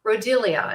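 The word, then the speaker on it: Rhodiola: and it's used in the world it's called rodelia and let me spell it for this r h o d i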